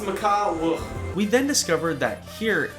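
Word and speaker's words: Maka Wuhu: Maka woohoo or as I thought it was pronounced Mak wo Mak woo W it's pronounced MAA wo we then discovered that here everyone has the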